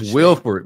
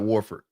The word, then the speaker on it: Wilford: to go to Georg Wilford man not Warford defensive analyst he worked